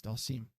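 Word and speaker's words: Dhalsim: pronounce it? Is that the Wholesome? It's Dalsim.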